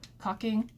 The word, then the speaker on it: caulk: bondo you can use caulk i pronounce it cocking you can use that